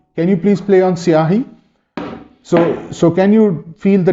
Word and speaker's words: syahi: Yes, this is the outer part, and then there is an inner part, which is siahi. Can you please play on siahi?